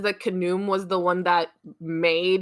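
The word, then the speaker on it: Khnum: fair um I even though it says that canum was the one that made heckit out of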